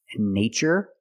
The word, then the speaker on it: nature: CH these two words nature and natural we see the spelling pattern t r e in this spelling pattern T is pronounced with the CH sound like chicken so we see the